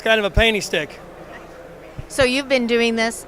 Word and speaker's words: Pstik: called this is the stick it's it's uh p s i k p ik but it's a silent p why'd you name it